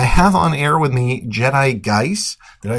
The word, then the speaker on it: Jedigeiss: Honestly, I didn't think of anyone pronouncing it in English. Well, how would you say it in your native tongue? Jedigeiss.